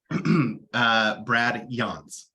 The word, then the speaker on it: Yance: It's Brad Yance. Rhymes with sconce.